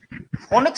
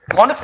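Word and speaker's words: Phoenix: फोनिक्स city नहीं, फोनिक्स माल मशहूर है, फोनिक्स सिटी नहीं मशहूर है। हाँ, जिसको फिनिक्स बोलते हैं हम लोग, सही प्रोनाउंसिएशन फिनिक्स है।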